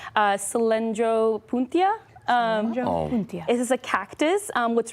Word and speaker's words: Cylindropuntia: Let me make sure I pronounce this right. Cylindropuntia.